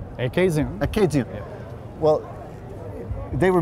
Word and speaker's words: Acadian: And it's called what I would pronounce Acadian, but you say? Acadian.